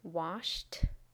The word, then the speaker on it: washed: becomes missed missed missed and finally wash is pronounced washed washed washed remember the spelling of these regular